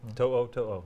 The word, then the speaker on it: To'oTo'o: To'oTo'o.